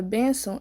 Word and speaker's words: benção: alguns exemplos como benção a palavra benção ela é paroxítona tendo como sílaba tônica a penúltima da palavra mesmo assim o Ti